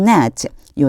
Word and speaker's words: gnat: 그러면 이집트 땅 도처에 the dust will become net요 net라고 하는 단어 봐 주세요. 앞에 있는 쥐가 발음이 안 나요. 그래서 net 이렇게 발음해 주셔야 돼요.